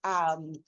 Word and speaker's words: Hedrick: Beth Hedrick is Hedrick. I don't know why I do that. I'm sorry. I'm gonna edit that part out. It's pronounced just like it's spelled.